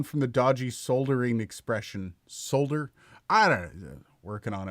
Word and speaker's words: solder: I said I'm now going to pronounce the L in solder, and I lost subscribers for that video, even though it was a totally serious video, 110%.